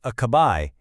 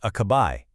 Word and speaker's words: acabei: The most important part is that last syllable. You really want to hit that bay sound at the end. It's not acabai, it's acabai. You hear that emphasis? A nice strong bay.